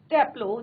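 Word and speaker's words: Taplow: And opens it एट टैप्लो, जैसे हम as usual हम बात करते हैं तो ई आर नहीं बोलना आपको, ए टैप्लो, इस तरह से आपको इसको प्रोनाउंसिएशन करना है।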